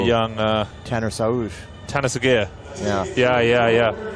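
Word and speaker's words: Sağır: 2008 oh the young uh Tanner sa Tanner AAR yeah yeah yeah yeah s yeah is that how you pronounced that's how it's pronounced oh wow I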